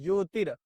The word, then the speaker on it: ज्योतिर्: यह र जो है इसके बाद पढ़ेंगे ज्योतिर यहां पर र ज्योतिर यह उच्चारण कैसे करेंगे? देखिए उच्चारण के लिए बता रहे हैं। ज्योतिर गमय मृत्योर र तो दिख नहीं रहा है लेकिन इसका र यहां पढ़ेंगे।